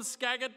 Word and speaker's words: Skagit: In 2nd place, it's really Skagit with a J? It's a G pronounced like a J?